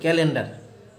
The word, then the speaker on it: calendar: যে দুটি ইংলিশ শব্দ, এই ইংলিশ দুটি শব্দ উচ্চারণ একই হবে, কিন্তু স্পেলিং বা বানানে গিয়ে আপনার একটু পার্থক্য থাকার কারণে কিন্তু আমাদের অর্থই চেঞ্জ হয়ে যায়।